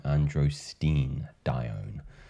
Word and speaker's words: androstenedione: Pine pollen and its impact specifically on the pheromone androstenedione. Finally learned how to pronounce it correctly.